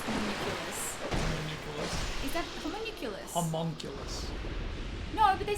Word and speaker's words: homunculus: need it please rewind to how you just pronounce them is that common homunculus no but they say communiculous in the enemy they're talking no they do